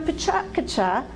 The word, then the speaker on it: PechaKucha: Now in Pachakacha, that's how I pronounce it, in Pachakacha, same thing as Pechakucha, there's a custom to